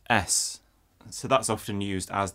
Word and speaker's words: As: our names and finally a flat in German is pronounced s so that's often used